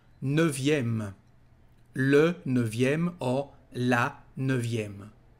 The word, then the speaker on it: neuvième: Neuvième, so you know that nine is neuf with a letter F, here we've got a letter V. Neuvième, neuvième, le neuvième or la neuvième.